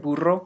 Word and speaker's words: burro: for some spanish consonants the word burro has a trilled r you know this because it's spelled with a double r the word rancho has